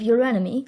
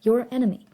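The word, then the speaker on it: Eurynome: Hipponous, later known as Bellerophon, was the son of your enemy, Queen of Corinth. Yes, that's how you pronounce her name, your enemy.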